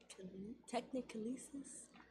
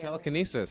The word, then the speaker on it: telekinesis: Technicolesis? I can never say that. Telekinesis. Yeah, is like, okay.